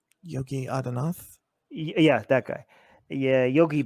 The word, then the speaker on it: Yogi Adityanath: How do you pronounce this guy's name? Yogi Adityanath.